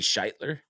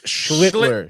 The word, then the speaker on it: Schlittler: I mean, was it going to be Scheitler? It's Schlittler. Schlittler. It's not shit. It's Schlittler. Yeah, that's it.